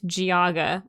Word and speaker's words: Geauga: a lot and I don't know how to pronounce it. Tuscarawas. Okay. And I know this one is Geauga. I do know that one. That's how the county PVA office pronounced it. Yeah. So, and Geauga Title Company.